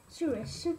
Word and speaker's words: Shroomish: Shroomish.